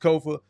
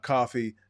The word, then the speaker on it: Kofa: I am your humble host, Kofa, K-O-F-A, not coffee, not kufu, not Kofi, or any variation thereof. Kofa rhymes with sofa.